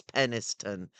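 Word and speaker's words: Penistone: we'll definitely pen, but it looks like penis stone. Penis. I mean, yeah, we got to make sure we don't hurt the feelings of York people. So, yes, it's Penniston.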